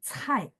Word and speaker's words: 菜: Kalau C-nya kayak marga saya, itu dia bacanya ada angin. 菜.